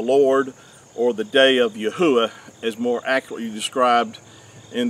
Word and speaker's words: Yahuah: the creator which is yahuwah which is which is the correct way to pronounce the four hebrew letters of our creator's name and it's been substituted